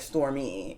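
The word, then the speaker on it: Stormé: And it could also be Storme, because I heard her pronounce her name Storme Delarverie. But then when somebody else was like Stormy, she was like, yeah, whatever.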